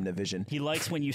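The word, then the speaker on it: Nivison: That's how you say his name, Navision.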